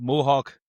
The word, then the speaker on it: Molhoek: I'm delighted to welcome on to the Sports Deny podcast this week, Bob Mohawk. Definitely not pronouncing that right, but like that's easy, is it?